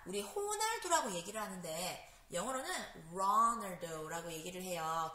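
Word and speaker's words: Ronaldo: 호날두라고 얘기를 하는데 영어로는 runald라고 얘기를 해요 그런데이 R 발음이이 크리스티아누 호날두 선수가 사는 나라에서는요이 알 발음이 아니라 약간 약간 그 발음이 난다고 해서 그 흐 발음이 나서 그 포르투갈 발음에 적당하게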